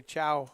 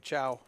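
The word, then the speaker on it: Caio: Now, in the chat, somebody tell me how to say ciao. Or I'll just keep pronouncing it cow. C A I O. Okay, I just got confirmation from the dealer that his name is Ciao. So, that's what I'm going with.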